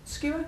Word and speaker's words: skewer: you know SK again skewer skewer skewer yeah SK where's the strong syllable skewer skewer yeah okay that's for the